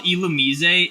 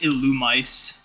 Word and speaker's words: Illumise: I used to call Illumise Illumice.